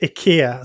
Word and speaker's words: IKEA: It's actually pronounced IKEA. Sorry IKEA. to get Okay. That's how they pronounce it in Sweden anyway.